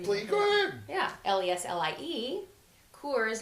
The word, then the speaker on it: Cours: Cours, like the beer, but it's Cours.